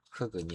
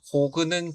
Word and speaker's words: 흙은: 4번 흙은 겹받침 리을 기역에서 리을은 받침으로 남고 기역이 다음 음절로 이동해야 하므로 표준 발음은 흙은입니다. 흙은이 아니고 흙은, 흙은, 흙은, 흙은, 흙은입니다. 혹은은 잘못된 발음입니다.